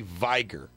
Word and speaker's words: Viger: A 33-year-old New York mother, Judy Viger, rhymes with Viagra, was arrested Monday for endangering the welfare of a child.